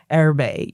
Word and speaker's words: Erbe: Erbe, ERBE.